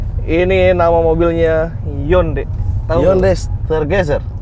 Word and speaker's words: Hyundai: Nama mobil ini adalah Yonde. Kamu tahu itu? Yonde Stargazer. Ya. Honde. Ini bukan Hyundai. Honde. Honde. Honde.